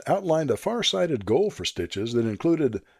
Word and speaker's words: STCHS: The group adopted the name Southern Tuolumne County Historical Society and used the acronym STCHS, pronounced Stitches.